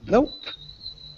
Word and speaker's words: nope: of saying no um nope and it's almost like a swallowed p sound so you'd say nope nope um hopefully that